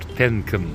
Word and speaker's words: tanken: ne yapıyoruz tenen tankın tanken yazıyor Tenk olarak okunur yani benzin doldurmak demek